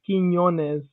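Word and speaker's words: Quiñones: Did Properly, it's Quinones. The first Quinones?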